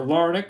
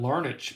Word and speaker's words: Larnach: runs right there trevor larnick right there with those twins i think it's larnic i was pronouncing it larnach for a while pretty sure it's larnic bart you'll get it